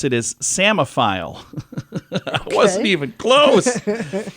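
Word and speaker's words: psammophile: say it so I wasn't even close uh posmo I'm not saying that right either it's a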